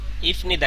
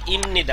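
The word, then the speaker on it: 입니다: আপনি নিয়ম না জানেন ইফনিদা কিন্তু না উচ্চারণ হবে ইমনিদা উচ্চারণ কি হবে ক্লিয়ার এইটা কে কে বুঝেন নাই বলেন আমার সাথে সাথে হওয়ার কথা ছিল ইফনিদা কিন্তু দেখেন উচ্চারণ হইছে কি? ইমনিদা। উচ্চারণ কি? ইমনিদা। কেন ইমনিদা হইছে? এই বিয়পের পরে নিউন আসলে বিয়ের উচ্চারণ ম হয়। এজন্য উচ্চারণ হইছে ইমনিদা।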